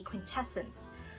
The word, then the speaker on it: Quintessence: I know this is the palette that everyone had problems pronouncing because it's pretty close to quintessential, so I think minds were like skipping to there, but it's the Quintessence Palette, and this is also in the light variation.